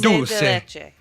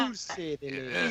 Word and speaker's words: dulce de leche: That is the proper pronunciation if you're gonna use dulce. In Dulce de Spanish, leche. it's dulce. Dulce. Dulce Dulce. de leche.